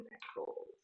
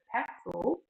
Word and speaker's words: Pexels: Let's go and open a new window and type in pixels. Yes, I know I pronounced it wrong. That's okay. All right, it says Pexels, the best free stock photos, royalty-free images, and videos shared by creators.